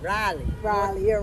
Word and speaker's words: Raleigh: And now, the way you have to say that, you gotta say Raleigh.